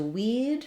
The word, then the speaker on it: we'd: Then going to weed, it's the same as weed that grows in the garden.